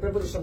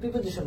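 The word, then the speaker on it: preposition: দা weekend এটা আমরা সবাই বড় এটা একটা প্রেপজিশন থেকে প্রশ্ন হচ্ছে এটা কিন্তু আমরা কিন্তু প্রিপজিশন বলি এটা কিন্তু একচুয়াল প্রোনাউন্সিয়েশন প্রেপজিশন প্রেপজিশন তুমি দেখো তুমি শুইনা দেখো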